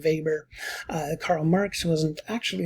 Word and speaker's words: Weber: weber and we say weber even though it's a w we pronounce it with the german v sound weber uh karl marx wasn't